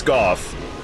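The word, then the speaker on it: Gough: We got to Super Smo, or Smoth, is the actual pronunciation, but I refuse. I'm not saying Smoth. I know it's Goff.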